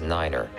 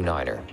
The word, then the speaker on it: nine: at a time and pronounce the number nine as Niner for example to refer to Runway 29 say Runway 2 Niner all vehicles and aircraft